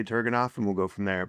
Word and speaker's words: Turgenev: I heard someone in here earlier saying the proper pronunciation was one of you guys. Turgenev. Yeah, it was. Yeah. I'm going to say Turgenev, and we'll go from there.